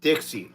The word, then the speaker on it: Dixie: It's Dixie, like Dixie Cup.